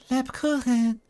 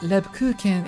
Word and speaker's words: Lebkuchen: It's not Lebkuchen, it's Lebkuchen. Like, she's actually giving a shot at the th pronunciation, but like filtered through a Japanese accent. It's quite interesting. It sort of turns into an H.